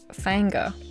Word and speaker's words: Finger: You're pronouncing Finger wrong, it's Fanger. Have to get the accent right. It's a little bit of a Tennessee twang, I guess.